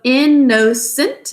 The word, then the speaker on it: innocent: We keep an n there just to keep the vowel short. But it ends up being silent because we say innocent.